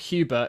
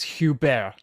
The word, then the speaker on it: Hubert: And also, it's not Hubert, it's Hubert. Hubert.